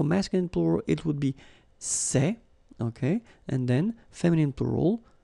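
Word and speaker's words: ces: plural form so masculine plural it would be say okay and then feminine plural good news it's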